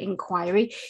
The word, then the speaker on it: inquiry: In American English, it's pronounced inquiry, but because I'm from the UK, I pronounce it inquiry.